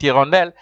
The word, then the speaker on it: hirondelle: And then you see down below, you'll find H with hirondelle, cette hirondelle. H there is silent.